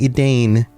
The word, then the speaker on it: Edain: These are the Edain. And thank you to the patron who helped with the pronunciation. Even though Edain is spelled E-D-A-I-N, it looks like Edain. Edain is the more accurate pronunciation.